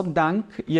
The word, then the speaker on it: Danke: Sem o E aqui, hein, gente? Aqui é só Dank e aqui é Danke, tá? E tem que pronunciar esse E.